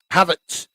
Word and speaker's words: Havertz: Havertz.